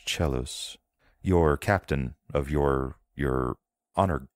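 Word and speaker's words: Celsus: It looks like it's C-E-L-S-U-S, but it's pronounced Chelos.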